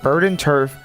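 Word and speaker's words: Verdanturf: Linking Rushbow and Van Verenturf. That's how you say it. Verden Turf.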